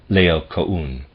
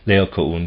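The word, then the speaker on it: Laocoön: We find this situation depicted in another Greek sculpture, the death struggle of Laocoon.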